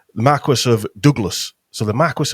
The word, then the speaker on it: Marquis: the Dukes of Douglas and the Marqu Marque Marquest, whatever you want to call it. I got bollocked by somebody for that the other week, pronouncing it wrong. the Marquis of Douglas.